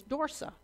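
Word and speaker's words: Dorcia: My name is Dorsa. It is spelled D-O-R-C-I-A. It doesn't look like Dorsa. It doesn't vaguely resemble Dorsa, but that was my name.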